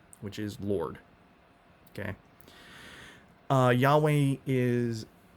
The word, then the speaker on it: Yahweh: right nowadays we actually know how that was pronounced it's yahweh not jehovah we knew it wasn't jehovah by